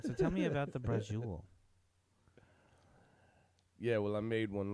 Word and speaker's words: braciole: So like, when I get in the kitchen, I'll be making the braciole, right? Okay, braciole. I always pronounce that braccioli.